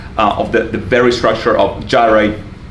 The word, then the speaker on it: gyri: the very structure of gyri and sulci, or giri and sulci, if you want to use the Latin or archaic Greek pronunciation.